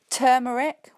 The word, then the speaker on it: turmeric: got the ow sound turmeric we've got the Earth's and again that we had in the first example with hamburgers and then